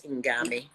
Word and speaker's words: Ngame: with the fact that i didn't know about ingame which is spelled n it's like end game n-g-a-m-e that's ingami um so yeah so we will learn more